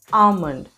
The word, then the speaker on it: almond: it's government almonds are a good source of vitamin e so you notice these two words it's not almond it's almond almond and this word is